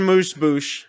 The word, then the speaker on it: amuse-bouche: Then we get on the screen amuse-bouche. I knew you'd know how to pronounce that.